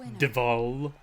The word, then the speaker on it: Devil: my friends call me devil actually my name is pronounced deval looks like diva it doesn't say oh